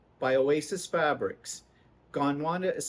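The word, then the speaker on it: Gondwana: to ask what's it called it is called gone wanna by Oasis Fabrics gone Wanda is spelled g-o-n-d-w-a-n-a there are others in this line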